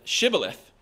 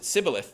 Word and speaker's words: shibboleth: the aphramites pronounced shibboleth shibboleth um or sibilith they pronounce it sibilith the ephraimites they didn't have the sh sound in the way that they pronounce things um so when the aphramites